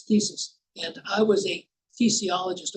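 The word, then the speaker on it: phthisis: Yeah, now, in thesis, the phi, ph, is not pronounced. It's silent. As we say, like the P in swimming. It's silent. So it's thesis.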